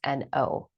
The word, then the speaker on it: No: My legal last name is N-O because I am a master at that word. That's not why, actually. Well, it isn't. It's not. Like, the pronunciation of my last name has always been no.